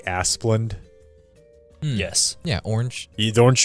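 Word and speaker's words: Asplundh: I think it's pronounced like Asplund.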